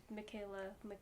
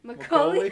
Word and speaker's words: Macaulay: I only watched the one with Michaela. How do you say his name again? Macaulay.